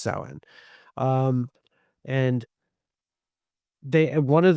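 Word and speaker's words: Samhain: from a festival called Saen, which is spelled Sam Hayne. It's spelled s a m h a i n, but it's pronounced sen.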